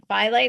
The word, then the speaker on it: phthalates: And the next one, phthalates, is how you say it.